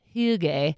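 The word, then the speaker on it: hygge: into the category of I'm gonna use the pronunciation that my Danish friend told me which is he gay that hy gge this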